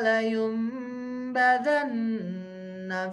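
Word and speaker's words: لَيُنْبَذَنَّ: Kalla layumbadanna fil hutamah.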